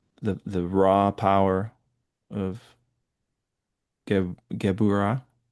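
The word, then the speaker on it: Gevurah: The the raw power of gabura.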